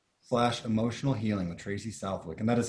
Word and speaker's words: Southwick: so title mindset slash emotional healing with tracy southwick and that is how you say your last